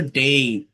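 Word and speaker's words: day: দ্বিস্বর ধ্বনি, যেমন এই, এটা এ না, এই, ডেই, এটা ডে না, কিন্তু এর উচ্চারণ হচ্ছে ডেই।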